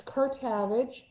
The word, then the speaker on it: Kertavage: Okay, I'm Kertavage. It rhymes with Savage. My mother always hated when I said that, but it's Kertavage.